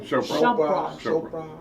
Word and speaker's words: Chopra: How you pronounce his name? Chopra.